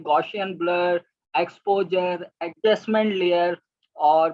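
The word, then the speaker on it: Gaussian: है गॉसियन blur, basically मैंने लफ्ज़ को गलत प्रोनाउंस कर लिया क्योंकि 1 मिनट की वीडियो बनानी थी, मुझे ज़रा तेज़ी से बोलना था। असल लफ्ज़ है गॉसियन ब्लर।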